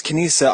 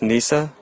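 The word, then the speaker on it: Kneesaa: And, Jared, I put the dang Princess Kanisa on the new intro just for you. Now, do you understand that I love Ewoks and I accept them? It's pronounced Nisa, but, no, I do understand.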